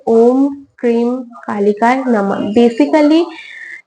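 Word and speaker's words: क्रीं: है मंत्र है ओम क्रीम कालिकाय नमः बेसिकली इसका जो एग्जैक्ट प्रोनाउंसिएशन है वो ऐसा है एक वो कुछ इस प्रकार है ओम कम कालिकाय नमः ओम क्रिंग कालिकाय नमः जो स्क्रीन पे भी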